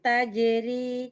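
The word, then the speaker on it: تجري: Jadi ro-nya dibaca tipis kan? Tajeri. Jadi tipis bacanya.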